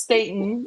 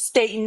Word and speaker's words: Staten: She said Miss Staten. It's Staten, not Staten. If you would have gotten your information right, it even pronounces it how it should be stated.